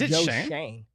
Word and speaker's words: Schoen: I believe it's pronounced Shane. I don't know. It's Shoen. Yeah, right? I know, but it's like a silent O or something like that, or the O is pronounced like an A.